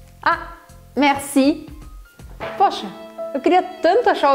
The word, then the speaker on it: merci: Só que aqui você pode até usar uma técnica de pronúncia para você soar bem francês mesmo, que é colocar um certo ar na palavra merci. Então, às vezes, os franceses, ao invés de falar merci, eles colocam um ar na palavra e fica assim, merci, merci, merci.